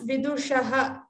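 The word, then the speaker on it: विदुषः: Here pronounce vidushaha, the shakara should be heard well, and rudhaha, this is ru, the long u, rudhaha, dha also should be heard.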